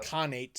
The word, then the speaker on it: Khanate: But Khanate, I yeah. think. That's how it's pronounced.